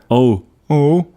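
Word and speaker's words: en haut: of those words where because there's an H cuz so oh where you mustn't pronounce so the consonant before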